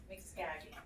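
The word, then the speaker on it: Mxkagi: It's in dragon speak. It's spelled special. Mixkagi.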